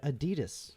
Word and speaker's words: Adidas: Did you know that Americans pronounce the uh apparel and shoe brand Adidas wrong? Okay. That's right. The old man's screaming right now. Uh supposed to be Adi Das.